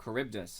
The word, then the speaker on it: Charybdis: But somebody actually just said like, "Oh, is your name Charybdis?" And I was like, "That's the correct pronunciation."